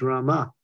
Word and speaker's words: Rama: if you probably the the Rama is not like the Krishna it's Krishna but it's Rama you pull in the a it's a guttural sound so it's Hari Krishna